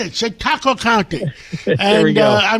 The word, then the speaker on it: Chautauqua: I said it, Chautauqua County.